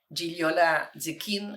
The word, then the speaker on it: Gigliola Zecchin: tengo un doble nombre gilola zin así se pronuncia en italiano yo he nacido en